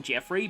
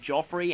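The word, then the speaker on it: Geoffrey: are really failing here you might notice that I sometimes call him Jeffery but that I used to pronounce it that way but then radiant Dawn's boys acted narrations said Joffrey and that is how it is in Japanese as well and this is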